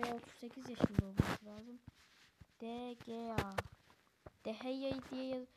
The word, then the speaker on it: De Gea: De Gea. De Gea diye okunuyor da evet 4 milyon gibi bir değeri var.